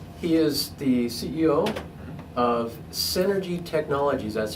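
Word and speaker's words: Senergy: He is the CEO of Synergy Technologies. That's spelled S-E-N-E-R-G-Y, like energy, with the S in front of it. Synergy Technology.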